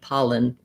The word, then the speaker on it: pollen: touch behind my teeth the letter e says a schwa sound or it's almost no sound at all so thinking about that second syllable being so short my paw is long and my lin syllable is short you can say it with a clear schwa or it may be more like an is sound pollen pollen what i'm